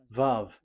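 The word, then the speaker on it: וָו: VAV. Your claw, your mouth is like closed. VAV. So it's V as in Vogue.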